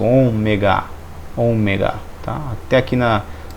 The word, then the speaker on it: ômega: o ômega o ômega ele tem um som do ó como com um acento circunflexo omega omega tá até aqui